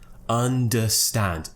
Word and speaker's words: understand: schwa sound is in this word and stand understand oh is it the schwa sound so it